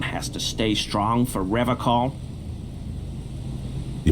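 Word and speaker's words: Revachol: I've been tempted on occasion, but someone has to stay strong for Revocol. He pronounces Revocol with a hard K, unlike other people.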